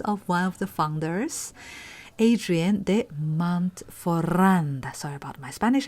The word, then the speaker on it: Hadrien de Montferrand: one of the founders, Adrien de Montferrand. Sorry about my Spanish accent. He's a French art dealer, so in French, H does not pronounce, so it will be like ADM instead of HDM actually, but anyway, HDM sounded better, I think.